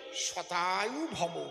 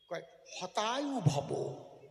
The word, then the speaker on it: শতায়ু: আমি বলবে কি, শতায়ু ভব, মানে 100 বৎসর আয়ু প্রাপ্ত। শত উচ্চারণ হয় না, হতায়ু ভব।